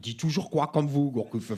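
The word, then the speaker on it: Gourcuff: toujours quoi comme vous Gourcuf fe c'est Gourcuf bah non il y a de F ou deè F de se prononce pas bah pourquoi il le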